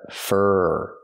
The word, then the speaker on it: for: she's waiting f f not for her but fur use the IR sound like Burger two times for she's